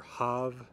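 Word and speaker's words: haf: Mostly F is going to be pronounced as a V. So words like av, from, or hav, see, or ev, if, that F is pronounced as a V.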